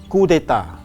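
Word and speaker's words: coup d'état: Yes, this is called coup d'etat. Coup d'etat, we don't say coup d'etat, we say coup d'etat. So you can see that the P is not pronounced.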